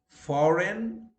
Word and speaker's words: foreign: When G follows an N, it is silent. Okay, and the examples are Dane, foreign, no, gnome, benign, sign, or yes, sign, malign, design, resign, feign. Words where H is always